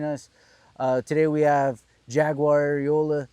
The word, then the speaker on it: Arreola: Today we have Jaguar Arreola. How do you say that? Am I saying that right? Yeah, Jaguar Arreola. Yep, it's good. All right, with the R.